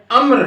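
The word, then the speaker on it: عمرو: है कि अब्दुल्ला इब्न अम्र है, ऐन मीम रे वाव, वाव साइलेंट है इसमें, आप इसको उमरू पढ़ रहे हैं।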